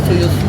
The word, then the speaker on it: Toyosu: He said it's not pronounced like that, but it's Toyosu.